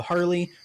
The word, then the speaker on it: Harle: and we encounter uh harley her name is spelt like uh marl but it's pronounced harley because she's literally a harlequin and uh she's like